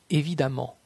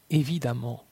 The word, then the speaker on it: évidemment: La lettre E dans la combinaison de lettres EMM se prononce comme un A. Femme, femme. Évidemment, évidemment.